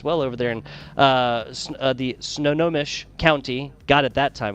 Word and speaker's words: Snohomish: The Snow Snohomish County Sports Commission.